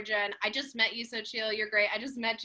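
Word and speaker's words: Xochitl: trying to do now my name is pronounced sochi sochi sorry i'm so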